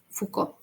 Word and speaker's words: Foucault: Foucault. Bueno, así se pronuncian.